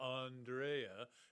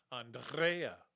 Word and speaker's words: Andrea: pronounce her name because I asked her if anybody ever called her Andrea, and she told us that the pronunciation of her name is actually, because her parents from Argentina, is Andrea.